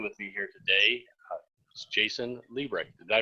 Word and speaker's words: Liebrecht: on the line with you here today jason libre did i pronounce that right you did pronounce it correctly